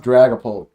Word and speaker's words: Dragapult: It's pronounced Dragapult. There you go, because it is a G in it, not a C.